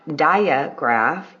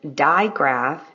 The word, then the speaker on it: digraph: consonant Digraph n g diaph is not diagraph it is Digraph n g king lesson